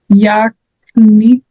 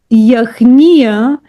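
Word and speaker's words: яхния: Bob Yakniya. Yakniya. The Yachnia is Yachnia.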